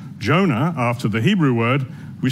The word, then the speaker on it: Jonah: for a study of Jonah. I'm sure many of you know the Hebrew word for dove is Yonah, which we pronounce Jonah.